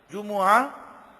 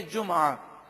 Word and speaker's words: جمعہ: تو اس لفظ کو دو طرح سے عربی میں پڑھا گیا، جمعہ میم پر پیش اور میم ساکن بھی ہے جمعہ، دونوں تلفظ درست ہیں.